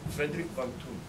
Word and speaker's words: Friedrich von Thun: Friedrich von Thun.